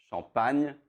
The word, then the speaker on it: Champagne: In France, it's Champagne. You don't do the A, but it's completely fine.